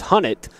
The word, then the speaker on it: Hunnett: And the official announcement is Hunnett, is how you say his name, so we'll see if that proves to be, we'll just go with that.